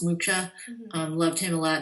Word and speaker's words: Mucha: Um I also can uh say that I love Muka Mucha. I always I hear you pronounced his name Alons Mukcha.